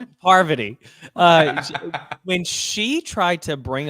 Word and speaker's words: Parvati: God, the one whose name you keep mispronouncing. Poverty. Parvati.